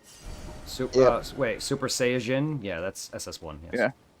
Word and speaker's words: Saiyajin: Like, no one, like, I don't even call it Super Saiyajin, but that's what it's actually pronounced. Like, the Saiyan is Jin. There is no, like, Saiyan Jin, if that makes sense. Saiyajin. Yeah, Saiyajin is how it's actually pronounced in Japanese, yes.